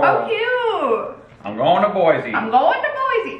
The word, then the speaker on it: Boise: first one Idaho oh cute I'm going to Boise I'm going to Boise it's pronounced boyy oh sorry oyy wait that's cute I love